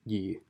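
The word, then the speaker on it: 易: on its meaning so if you're using it to describe easy then it's pronounced yi and then if you're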